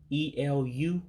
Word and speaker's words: elu: And of course, that last word, E-L-U, what looks like E-L-U in English, you drop that E. And that's why you don't pronounce it the way that it looks.